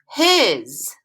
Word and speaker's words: his: word this week is his makes that z sound at the end is that s so that's why we